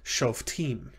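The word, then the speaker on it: שׁוֹפְטִים: And if you'll remember, shavas after short vowels are typically silent. So you would pronounce this shofatim.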